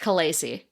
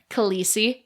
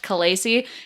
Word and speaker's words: khaleesi: what did i say khaleesi that's how a lot of people pronounce it but according to the conlang expert who developed the dothraki language it's supposed to be pronounced kalasie and pronouncing it khaleesi